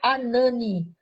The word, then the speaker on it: Hanani: O nome do irmão de Neemias é Anani, ou Hanani, porque é escrito com H, mas o som do H é mudo, então fica Anani.